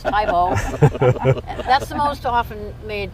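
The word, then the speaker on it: Thebaud: not pronouncing it right it's not tebow it's tybo that's the most often made comment about about how to pronounce the tebow and where's the bathroom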